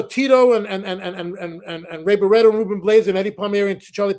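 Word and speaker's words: Rubén Blades: Ruben Blades.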